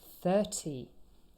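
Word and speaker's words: thirty: syllable not the first but 30. here the stress is on the first syllable and the day of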